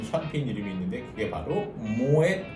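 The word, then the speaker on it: Moët: 그래서 모에 샹동이라고 발음하시는데 모엣이라는 것은 프랑스어가 아니고 이 모엣 에 샹동 샴페인 하우스의 창립자 네덜란드인의 성입니다. 패밀리 네임이에요. 그래서 이거는 불어가 아니기 때문에 뒤에 모엣 하고 끝까지 발음을 다 해주셔야 돼요.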